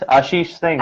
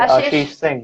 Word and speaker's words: Ashish Singh: How do I say his name? Ashish. Ashish Singh. Yes, Ashish Singh. You said it right. Ashish Singh.